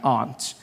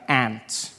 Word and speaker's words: aunt: For instance, I pronounce the opposites of uncle as aunt. I say my aunt. Out here you say my ant, which to me is an insect, which made me look